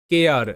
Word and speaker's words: care: সো এখানে রয়েছে কেয়ার, CARE, কেয়ার। কেয়ার মানে যত্ন বা যত্ন নেওয়া। এখানে সিতে ক সাউন্ড হচ্ছে ARE, এটা হচ্ছে এয়ার, তাহলে ক এয়ার, কেয়ার, কেয়ার, তাই তো, এর অর্থ যত্ন, কেয়ার মানে যত্ন।